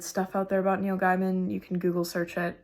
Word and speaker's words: Gaiman: Gaiman, yeah.